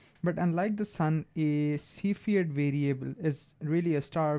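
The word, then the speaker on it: Cepheid: of these standard candles are called CED variables right that's how you pronounce it CED so the special things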